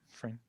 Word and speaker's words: Freyne: uh the writer director david frayne is that how we say his name yeah friend yeah um i look cute